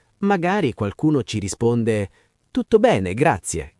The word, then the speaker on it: grazie: Ricordatevi di pronunciarla bene, grazie, con la E finale ben chiara. Non grazie, ma grazie.